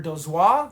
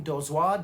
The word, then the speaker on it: Dozois: fiction stories and it was edited by Gardner Dozois. I believe that's how you say his name, Dozois, d o z o i s.